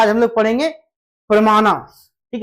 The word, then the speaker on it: प्रमाण: वहीं से ये आया ये संस्कृत का बेसिकली शब्द है और संस्कृत का शब्द है इसलिए इसका उच्चारण थोड़ा प्रमाणास हम लोग बोलते हैं।